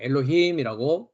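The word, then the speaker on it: אלהים: 하이라이트 돼 있습니다만은 남성 복수 명사는 엘로힘 예 엘로힘이 어 발음을 합니다 엘로힘과 같이 실액 요드 꼬리형 매로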